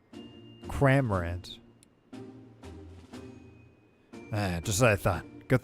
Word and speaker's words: Cramorant: But I feel like I'm not saying it right. Cramorant is probably what that's supposed to be. Cramorant.